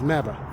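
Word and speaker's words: MABAH: Our motto is MABA, Make America Better and Healthier, M-A-B-A-H. Rhymes with MAGA, only it's a lot better.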